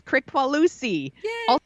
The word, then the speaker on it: Kricfalusi: So our creep this week is John Kricfalusi. I looked it up. I listened to videos to get the name correct. Y'all, I did my homework. I totally researched how to pronounce his name. It's Kricfalusi, also known as John K.